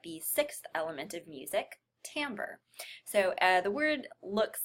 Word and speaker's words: timbre: be talking about the sixth element of music Tambor so the word looks like it's pronounced timbre but it's actually Tambor side note there and